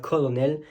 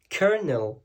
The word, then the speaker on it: colonel: Et forcément, on aurait envie de dire colonel et pas du tout. Ça va se dire kernel.